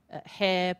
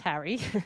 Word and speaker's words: Harry: identify with in that and he would say hair Potter and I'd say first it's pronounced Harry and secondly you've walked right into my clever